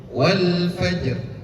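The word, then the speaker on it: والفجر: Maka dalam hal ini ketika ro berharkat kasrah dibacanya ti tipis. Wal fajr. Wal fajr bukan wal fajr itu kan tebal. itu tebal. Kalau rnya kasrah wal fajr wal fajr tipis rnya.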